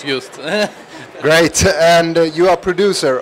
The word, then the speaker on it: Just: So I'm standing here with Joost. Joost? Yeah, it's actually pronounced correctly in Polish, Just.